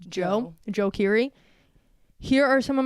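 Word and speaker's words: Djo: D-Joe, but it's pronounced Joe Keery.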